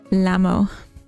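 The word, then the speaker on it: llamo: Llama has two L's and you pronounce none of them. Lamo.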